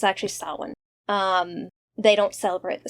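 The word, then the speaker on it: Samhain: Sam Hine. And that's how many pronounce it. It's like No, it's actually sin.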